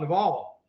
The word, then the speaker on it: Naval: Oh, you're talking about Naval. Naval. Yeah. Well, it's spelled navel. Well, That's how I read it. I've heard him say his name, so I'm pretty sure it's Naval.